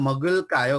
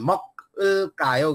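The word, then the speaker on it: 먹을까요: कायो गर्नु पर्दछ है उच्चारण मक कायो गरेर नि होइन कि मगुल कायो भनेर भन्नु पर्दछ त्यसपछि इक्ता इक्ता भनेको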